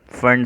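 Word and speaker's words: Pfund: हम नाम देते हैं फंड सीरीज यहां पर पीस साइलेंट है तो हम इसे कहते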